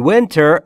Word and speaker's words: winter: تلفظ درستش رو دقت بکنید دوستان. W لبها حالت لوله‌ای. ایش هم بین ای و ا.